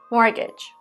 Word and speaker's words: mortgage: to buy a house it has a letter t which is silent and is not pronounced mortgage they took out a